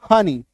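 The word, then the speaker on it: honey: इसको ऐसे समझिए कि ई के बाद अगर वाई आ जाता है तो ई का उच्चारण बड़ी कार की मात्रा, बड़ी कार की मात्रा होगी। क्लियर है?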